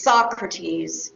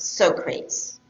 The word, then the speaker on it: Socrates: It is Socrates, it is not Socrates. Right? So be careful about the pronunciation of the names of your sources.